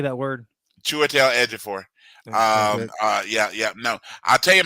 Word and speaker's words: Chiwetel Ejiofor: I watched a bunch of YouTube videos that actually tell you how to pronounce his name. That's simply all it is. Chiwetel Ejiofor.